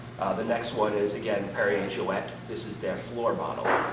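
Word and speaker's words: Perrier-Jouët: There should be a little semicolon above the E. That way in France you know to pronounce the T. So a lot of people call it Perrier Jouet. It is Perrier Jouet.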